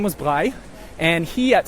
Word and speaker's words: Braille: but you've also got a guy named a bi and you probably don't recognize that name but if I pronounced it as Braille I'm sure you do recognize it so Braille the guy